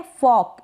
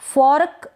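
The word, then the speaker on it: fork: फॉर्क ना पढ़ें, इसको फॉर्क गलत हो जाएगा, फॉक, यानी ये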